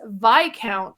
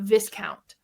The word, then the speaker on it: Viscount: also mispronounce it because it's not spelled the way that it sounds. Um, but this is one that I finally played the third game of this trilogy, and that is Vic Count of the West Kingdom, not Viscount.